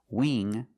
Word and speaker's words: wing: So when you see words like wing, sing, and bring, you see the combination of ing, you know it's a long E sound like green beans. Listen to the sound. Wing, sing, bring. That's a long E, not a short I.